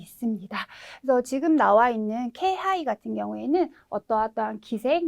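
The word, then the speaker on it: 気配: 그래서 뭐 확률상으로는 이게 훨씬 더 많겠지만 네, 의외로 예외적으로 K라고 읽으셔야 되는 그런 경우도 꽤 많이 있습니다. 그래서 지금 나와 있는 K하이 같은 경우에는 어떠한 기색, 뭐 느낌, 기척이라고 하는 단어인데요.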